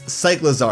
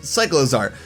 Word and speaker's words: Cyclizar: the games, and it's Cyclizar. I believe I'm pronouncing that right. It's a cycle and a lizard, Cyclizar.